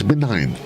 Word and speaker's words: benign: for the day for today, the 23rd, is benign. And benign, it's spelled B-E-N-I-G-N.